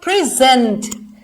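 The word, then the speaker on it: present: अब आप देखो ये क्या है, प्रेजेंट, जिसका मीनिंग क्या है। अब आप देखो मैंने जेंट पे जोर लगाया, स्ट्रेस दिया, तो सेकेंड सिलेबल पे।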